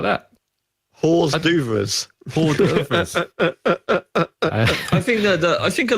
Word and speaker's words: hors d'oeuvres: like to order this stuff from the menu, hors d'oeuvres.